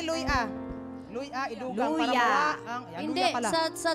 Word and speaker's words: luya: Oo iba sa Cebuano ang kini luya luya ilugang para ang luya pala. sa sa bisaya luya ah accent on the ah yes luy ah you know kasi ang